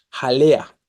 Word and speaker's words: jalea: tenemos algunas algunos ejemplos jalea la palabra jalea tiene tres sílabas Ja lea no Cuál es la tónica la que está subrayada la penúltima es grave terminada en